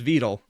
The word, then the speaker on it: Vedal: his name correct now I was saying vetal before but no apparently it's vetle hi Annie how are